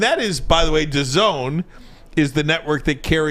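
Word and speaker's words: DAZN: at Little Caesars Arena it's gonna be on dazen is that that yeah is that how you say it yeah dancing called The Zone The Zone The Zone uh the Zone I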